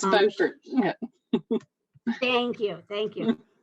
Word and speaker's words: Beaufort: The first thing I need to check is whether it's pronounced Beaufort or Beaufort, North Carolina. It's Beaufort.